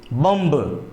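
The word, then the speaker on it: bomb: पर भी क्या होगा एम बी साइलेंट होगा तो यहां पर भी बम नहीं बॉम कहलाएगा जिस तरह से कहता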